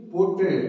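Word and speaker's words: put: यदि यू लगता है तो उसका साउंड आएगा, प्रोनाउंसिएशन होगा उट। तो इसलिए इसको कहते हैं पीयूटी पुट, उट।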